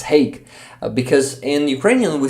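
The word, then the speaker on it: Hague: Yeah, I finally uh pronounced this word correctly. It's hey because in Ukrainian we say haha.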